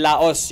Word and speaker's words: Laos: and Laos let's remember that in all silent s la la Lao La okay Lai Olympics